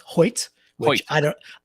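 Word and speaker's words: Hoecht: found out it's pronounced Hoyt which I don't I don't know how h-o-e-c-h-t makes a y sound but go on uh however from what I understand it's Hoyt so not only so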